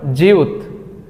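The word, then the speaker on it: 지읒: অ্যাড হয়েছে তাই না এটাকে করিনা বলে জিউত জিউত এটার মূল উচ্চারণ জ তারপর আমরা যেটা দেখতে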